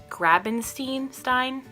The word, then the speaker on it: Grabenstein: Limoncello's Library by Chris Grabenstein.